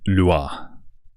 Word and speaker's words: Loure: This one is the Violas Loure. That's how it's pronounced.